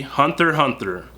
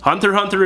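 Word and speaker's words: Hunter x Hunter: is going to be Hunter Hunter and yes you do not pronounce the x Hunter Hunter is also an adventure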